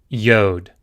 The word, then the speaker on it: Yod: Yod.